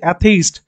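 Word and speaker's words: atheist: consonant sound ঠিক আছে অ্যাথেইস্ট যেরকম আমরা অ্যাপেল করি অ্যাপেল দেখো ওরকমই উচ্চারণটা আসছে অ্যাথেইস্ট এ আসছে তো উচ্চারণটা যখন এ আসবে তখন তার আগে কিন্তু এন বসবে তারপরে কি আছে নেক্সটে কি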